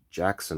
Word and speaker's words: Jaxn: about this guy called derek jackson or whatever the hell his name is it's like his fake surname is spelt j-a-x-n i don't i don't